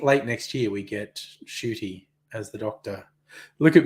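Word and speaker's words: Ncuti: we I think late next year we get shooty as the doctor look at me being trendy I looked up how to pronounce his name because his name looks like n cutie uh and you pronounce it shooty I look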